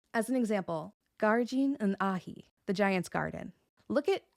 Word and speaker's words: fhathaigh: The case changes the ending from CH to GH, which technically is a slender consonant, although it is silent.